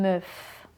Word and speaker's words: meuf: Eh bien, meuf, c'est le verlan de femme. On inverse les sonorités. Meuf, femme, meuf, femme. Tu vois que femme commence par un F et meuf finit par un F.